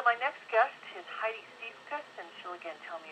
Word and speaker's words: Siefkas: I'm thrilled to share my story with you and your listeners, and kudos to being spot on the last name pronunciation. Siefkas is correct.